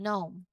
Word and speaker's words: gnome: But when we say it, we start directly with the N sound, as in gnome. Okay? We don't pronounce the G at all.